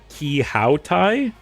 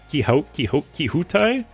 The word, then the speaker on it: Quixote: Also, it's pronounced Quixote. Quixote. Don Quixote.